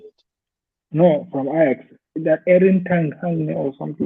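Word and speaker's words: Erik ten Hag: That Erin Tankhagen or something like that. I can't recall Yes, his name. that's the name. You said it right. You said it right. Eric Ten Hag.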